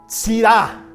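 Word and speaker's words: צרעה: Esta palabra hebrea que se pronuncia Sirá, a ver, di, Sirá, pero así, Sirá, no como el vino Sirá, no, Sirá.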